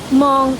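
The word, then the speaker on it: Hmong: kadkad village is yung mga monong tribe monong spad as h m o g with silent h ngaon Iyung pa na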